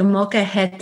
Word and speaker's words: molcajete: But even in your book, your story starts with the gifting of a, is it called a molcajete? You're so close. It's a molcajete, and it's molcajete.